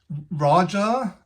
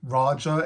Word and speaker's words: Raja: Whereas in the stupid American English pronunciation of names, Raja is actually, it's how they pronounce Roger.